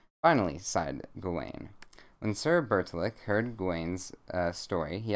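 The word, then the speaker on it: Bertilak: worries how do i pronounce that let's see vertilac how do i pronounce it pronounce it for me this website do it bert's a lock you all right whoa bits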